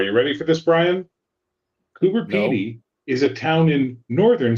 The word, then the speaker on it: Coober: So like you've got Cooper Pey spelled like it sounds or it's Australia so no. Okay. C O B E R Cooper. Coober.